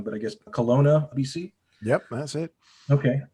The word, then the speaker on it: Kelowna: out of forgive me if i if i pronounce this wrong but i guess kelowna bc yep that's it okay and uh and